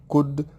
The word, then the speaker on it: could: should could will would be careful don't say should would could the L is silent main verbs examples eat